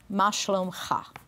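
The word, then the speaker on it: מה שלומך: Ma shlomcha.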